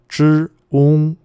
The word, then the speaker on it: 中: So if you place them together, zh, ong, and we're taught as kids in China, when I learned this in kindergarten myself, that zh, ong sounds make zhong. So zh, ong is zhong.